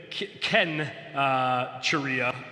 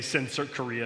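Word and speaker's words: Cenchreae: So this would have been Ken Charia, but we can say Sensor Korea if you want to.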